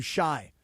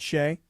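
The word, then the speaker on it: Shai: I think yesterday, Jerry Hairston Jr., he called him Shy, not Shay, which I thought was kind of cute, because, I don't know, it's spelled S-H-A-I.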